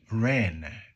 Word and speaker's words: Ren: I already mentioned Jonzoo Ren.